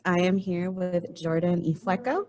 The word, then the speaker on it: Ifueko: am here with jordan e flecko rhymes with gecko for the ray bearer